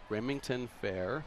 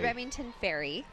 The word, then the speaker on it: Remington Ferry: So this says that the novelty award winners are Brady Moss, Remington Fair. Is that how you pronounce that? Or I think it's Remington Ferry.